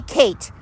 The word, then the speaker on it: Kait: And her name, Kate, is spelled Kait. I've never seen it spelled that way, but you just say Kate and just pray for her.